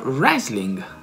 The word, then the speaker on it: wrestling: Quindi se voi siete dei fan come me del wrestling, si pronuncia wrestling, perché il W è muto.